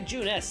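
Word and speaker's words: Junes: but now we only see regulars if only Jeunesse hadn't come into town it's convenient but it's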